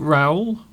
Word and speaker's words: Raul: Is that Raul? Have I pronounced that correctly? Yes, I think that's quite good. Yes, I think Raul, because last week we got into a real